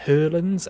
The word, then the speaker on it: Hoylands: Hoylands is actually like Hurlands, and Lothar is actually Lothar.